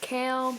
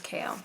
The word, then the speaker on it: Chaol: I would not think that is pronounced Kale, but I looked it up and apparently his name is Kale.